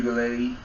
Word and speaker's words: Uiagalelei: Like you said, DJ Uiagalelei. Correct pronunciation.